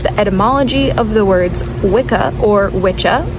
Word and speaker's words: Wicca: So we know it as wikah today. That's how we pronounce it in modern day.